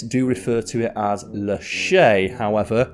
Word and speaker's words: Lachaise: refer to it as leche however some tour guides and documentarians pronounce the S and call it Le then I found one